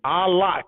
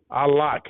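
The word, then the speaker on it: Au Lac: that out another one a lock and then it's spelled a-u-l-a-c a lock it's in downtown l.a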